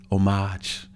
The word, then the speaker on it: homage: They was like the word is omage. You know, you don't pronounce the H.